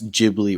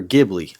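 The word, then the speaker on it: Ghibli: to jibi or gibli I'm pretty sure it's jibli I've never heard gibli before well some people have said gibli but I'm just saying I think it's jibli because someone posted a video and that's how the guy said his name or he said um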